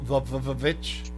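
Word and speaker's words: The VVitch: No, the Vavitch. Yeah. Pronounced the Vavitch.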